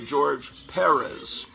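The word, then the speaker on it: George Pérez: facebook they would say accent on the first syllable they're trying to teach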